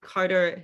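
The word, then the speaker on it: Charta: so it says charda it's pronounced carter in german and their role was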